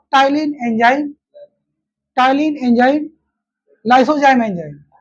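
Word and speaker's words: ptyalin: बोलो टलीन टलीन एंड पी को silent कर देना है ना कैसे तुम्हारा वो था सडोपोडिया में था यहां भी पी साइलेंट रहेगा टिन और लाइसोजाइम एंजाइम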